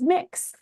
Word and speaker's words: Mx: I would prefer the gender neutral MX you can pronounce it as mix um just figure I'd